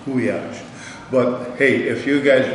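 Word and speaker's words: gulyás: This is goulash, which is an L-Y, is also pronounced as a Y or goulash. Okay, it's not a goulash, it's goulash.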